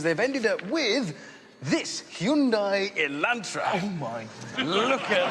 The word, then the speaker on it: Hyundai: They must have worked their way down a fairly lengthy list of manufacturers because they've ended up with this Hyundai Elantra.